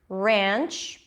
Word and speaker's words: ranch: are two differences here ranch is the ass sound ranch before an N yeah it's like it's not a pure as in cats not ranch it's like an S sound that opens to a nap rare ranch so it's